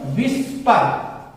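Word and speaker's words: whisper: चलाना था हमें, विस्पर, इसे पढ़ेंगे हम लोग विस्पर, विस्पर नहीं पढ़ेंगे, एच को हम एकदम से हटा देंगे, उच्चारण नहीं रहेगा।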